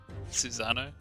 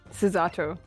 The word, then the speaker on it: Susato: assistant MOBA you mean is that suzano susato yeah I I said it wrong on purpose from your close friend